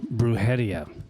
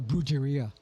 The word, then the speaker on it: Brujeria: Then when Jerry had once told me about Bruhia, how long at least you can say it right. Most people are brueria.